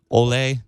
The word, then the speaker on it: Ole: what was his name uh how do you pronounce his first name again Olay Olay so oay was a he was a